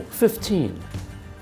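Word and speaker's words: fifteen: Oh, 15. Thank you. When we say these numbers on their own, we generally stress teen.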